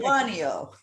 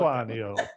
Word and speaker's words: Lituanio: How do I pronounce it? Lituanio. Thank you, Silke. Lituanio.